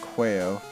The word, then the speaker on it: Quayo: And we're gonna name it after my account name, which is pronounced Quayo. A lot of people in real life tend to pronounce it wrong, so that's how you pronounce it, guys, so you better get it right.